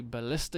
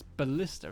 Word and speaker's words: ballista: They have a ballista unit. A ballista unit? Ballist? It's ballista, isn't it? It's pronounced ballista.